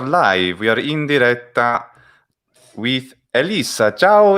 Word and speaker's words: Elissa: a topic okay right there's a difference between the way i say my name in english and the way i say my name in italian okay the vowels change and i i yes and i put the double s in the italian version so the english version is elisa so it's like an